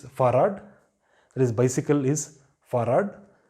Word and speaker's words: Fahrrad: And next is Fahrrad, that is bicycle is Fahrrad. So you have 2 R's, you still pronounce it Fahrrad.